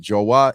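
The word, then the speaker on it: João: We pronounce it Joa in Chile.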